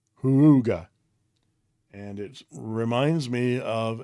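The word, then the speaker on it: Houga: is called the iboya Huga that's the only way I can pronounce it it's h o u GA a Huga and it reminds me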